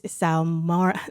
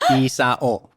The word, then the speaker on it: Isao: We have a very good friend of ours who's hanging with us today, Isao Did I say Isao? Yeah. Isao, am I Filipino coming out? Isao.